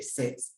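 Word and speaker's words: ces: This time around, we have different spelling of the set, but the same pronunciation.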